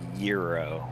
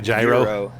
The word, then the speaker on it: gyro: get myself a Euro what I pronounce it's a Euro but obviously there's debate over how that's actually pronounced oh like a gyro I I think euro is probably the correct way well that's I looked it up on Miriam Webster and that's the way that it's pronounced with the audio you know